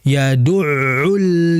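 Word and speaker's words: يَدُعُّ: Fzalikalladzi yadul yadu bukan yadu bukan bukan yadu bukan yang betul yaduul yatim seperti itu.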